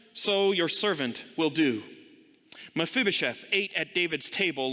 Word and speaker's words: Mephibosheth: a tough name and it's so easy to pronounce it mashiba from and all sorts of other things isn't it mephibosheth mephibosheth mephibosheth was introduced a couple of chapters earlier